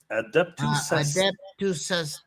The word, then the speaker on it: Adeptus Astartes: Adeptus Astartes.